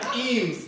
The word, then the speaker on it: Eames: Okay, wait, Eames, it sounds like Queens, which rhymes with jeans, which Sharon loves.